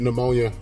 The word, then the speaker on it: pneumonia: had a I had pneumonia I always thought it was kind of funny how uh I always think it's funny when the when the peas are silent when you pronounce things but anyway good day